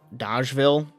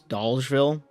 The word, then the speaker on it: Dolgeville: Dolgeville is a weird one because it's pronounced Doll, but I was playing like Dodgeville, but it's Dolgeville.